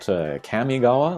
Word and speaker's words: Kamigawa: And actually here, Kamigawa, I've seen some people call it Kamigawa, like Kami from Street Fighter 2.